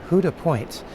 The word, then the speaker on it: Houda Point: I believe it is Huda Point. In fact, she said uh on the back of their land trust t-shirts, they have it written, "Who do you love?"